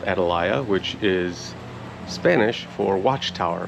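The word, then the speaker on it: Atalaya: there yeah they in adalaya is the way to pronounce it it was the home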